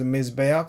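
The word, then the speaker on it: מִזְבֵּחַ: Mizbeach without the he, without the article, of course, is Mizbeach. There is no dagesh here because there is a dagesh with the article.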